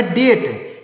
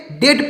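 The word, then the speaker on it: debt: टी तो इसको पढ़ेंगे डेट इसको डेप्ट नहीं पढ़ेंगे डेप्ट नहीं पढ़ेंगे डेट पढ़ेंगे यहां पर बी साइलेंट है इसको क्या पढ़ेंगे डी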